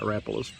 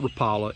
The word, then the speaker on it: Rapala: I kind of like rapas and it is Rapa it's not Rapala it's Rapa Rapa is the way the man pronounces his name so I'm think he